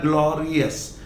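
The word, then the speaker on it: glorious: Then ग्लोरी से बनता है ग्लोरियस, नॉट ग्लोरियस. लिखने वाले लोग यस ही लिखते हैं, लेकिन बोलने में इसे हमेशा अस बोलना चाहिए, और ज्यादातर 99% लोग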